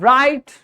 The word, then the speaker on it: write: Then we have right. Here the w is a silent letter because when we pronounce the word, there's no sound of w in the start.